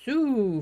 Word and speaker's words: Sault: Grand Theft Ottawa is saying Sault Ste. Marie is pronounced Sue for some reason.